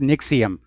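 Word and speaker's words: NXIVM: And by the way, I think it's pronounced Nixium, despite the way it's spelled.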